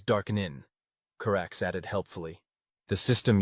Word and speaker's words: DAQNN: Network, or DAQNN, which they insist on pronouncing as Darkenin.